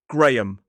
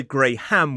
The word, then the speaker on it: Graham: 2 syllables, stress on the first, so it is G-R-A, Gray, So there is a schwa in the second syllable. Graham. The H is silent. I've heard some people say grey ham, which makes it sound like a discoloured type of meat, but this is most definitely Graham.